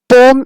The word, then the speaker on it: poem: which pronunciation is correct poem or poem is a British pronunciation which we follow in our studies perm is a American pronunciation both are correct but as we are following British English so that's why poem is the correct pronunciation so now let's start reading